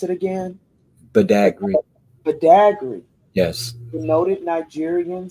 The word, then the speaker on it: Badagry: And you pronounce Bada, is it Badagry? Badagry.